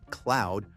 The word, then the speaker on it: CLOiD: Moving on to the humanoid robots now, of which there were plenty, we have LG's new CLI, pronounced cloud robot.